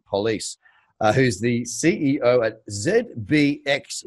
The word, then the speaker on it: Pulis: Now, I've got Dave Pulis, who sounds like you pronounce it police, who's the CEO at ZBX Exchange.